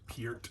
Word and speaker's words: Peart: On this side here, a beer made after Neil, pronounced Peart instead of Pert, like a lot of people pronounce it.